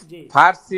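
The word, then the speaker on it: فارسی: জি ওস্তাদ ফারসি যে আমরা বলি ফারসির উচ্চারণটা তো ফরসি তাই না ফরসি ফরসি ঠিক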